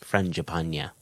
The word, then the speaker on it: Frangipane: of his name, and he did tell me exactly how his name was pronounced, and I think that is Frangipane.